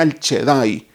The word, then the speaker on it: El Shaddai: Y ese Dios todopoderoso, la palabra Dios todopoderoso, tiene un nombre o una que significa o se pronuncia el Shaddai.